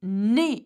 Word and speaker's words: nez: The letter EZ are pronounced the same way as E. So you would say nez, as in the nose.